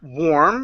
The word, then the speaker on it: warm: We have the word warm and then we have the word worm. Okay. The one with the a r is actually pronounced like this. Wore. We go to an or sound.